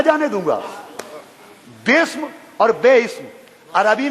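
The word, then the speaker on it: بسم: लिखा तो जाता है खोलिए कुरान बेइम कहां है बिस्म है अगर इम होता तो बे अलिफ सीन मीम होता मगर इसमें बेइ स्म नहीं है बिस्म हैला बिस्मिल्लाह में अजीजो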